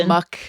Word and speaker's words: Amok: Amok. It's a hard K.